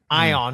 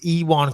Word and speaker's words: Ion: you want kutol arbor I on is how I thought it was with E 1 q2 lob is how you pronounce it taking on magum ed